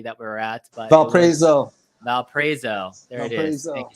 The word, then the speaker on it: Valparaiso: I'm sorry I still can't pronounce the city that we were at. But Valparaiso.